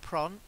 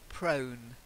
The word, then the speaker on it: prone: words the first one prone is a long o sound not prom prone wrong that's it sometimes